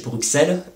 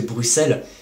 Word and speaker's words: Bruxelles: et de fausseté et j'entends souvent des gens prononcer le nom de la capitale belge Bruxelles mais en réalité il s'agit de Bruxelles et le le X servait à noter le 2S comme par exemple dans